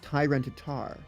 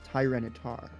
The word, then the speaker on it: Tyranitar: Cuz it's not Tyrantitar. It's Tyranitar. I'm just saying the Tyran part needs to be pronounced with the same emphasis as the word tyrant.